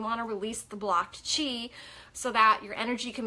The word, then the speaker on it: qi: And then the energy, your chi, what we call energy, it's pronounced chi, but it's spelled QI, is able to flow freely through your body.